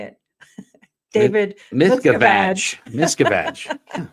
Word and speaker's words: Miscavige: Miscavige. It's easy, babe. Just remember the vag part.